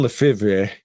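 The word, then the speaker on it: Lefèvre: by Edwin leev leiv it's like Brett Favre right it's spelled weird but Edwin LEF and it's supposed to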